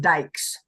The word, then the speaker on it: Dykes: how it's spelled D um dyc yes but pronounced Dykes and and he is logging on right now